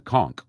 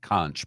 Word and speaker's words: conch: It's a conchk.